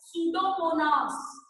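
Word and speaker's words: Pseudomonas: का नाम नोट करो पी से वो लिखा जाता है और पी साइलेंट होता है सुडो मनास पी साइलेंट है और बोला एस से जाता है और लिखा प से जाता है सूडो मनास क्या नाम है इस बैक्टीरिया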